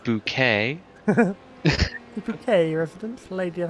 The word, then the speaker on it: Bouquet: It's pronounced bouquet.